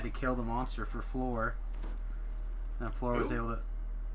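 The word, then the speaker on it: Phlor: Oh, I thought you were mispronouncing flower. The higher. No. No, Floor. And Spell his name P-H-L-O-R. and also F-L-O-R.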